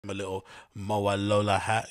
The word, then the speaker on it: Mowalola: a brand name it's MOA Lola isn't it it's not mawalua it's MOA Lola right yes she was the